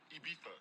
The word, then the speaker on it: Ibiza: Ibiza. Yeah, it's pronounced Ibiza, actually. Yeah.